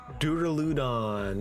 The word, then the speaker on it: Duraludon: This guy, uh, Duraludon, that's his name.